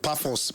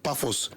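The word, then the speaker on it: Pafos: Then Marcel will host Amsterdam while Bayern Munich travels to Puffos. Pos is spelled P A F O S five goals. Puffos.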